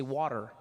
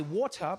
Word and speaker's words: water: In American, you say water, right? Water. Yeah. I say water because there's a T in the word, all right?